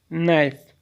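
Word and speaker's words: knife: मतलब चाकू या चूरा नाइफ इसमें एक साइलेंट है नाइफ नाइफ केयर ख्याल करना केयर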